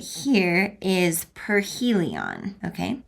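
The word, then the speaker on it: perihelion: So this word right here is aphelion, and this word right here is perhelion, okay?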